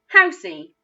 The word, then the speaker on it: house: didn't sound right so sometimes the letter e is silent at the end of a word so we're going to try it when it's silent notice that i didn't make any sound for that last letter and that's because in this word it is silent house is the word